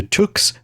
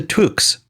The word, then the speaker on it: Took: know my pronunciation of Took isn't super consistent. It's It's got that ooh in it, but I always want to say Took and I'm sure that slips in.